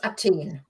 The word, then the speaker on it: Athen: Yeah, except in German it's Athen.